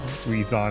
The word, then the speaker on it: Suizon: Suizon is too close to Suezo. That's so mean. It's spelled differently. Okay. If it makes you feel better, it's S-U-I, not S-U-E.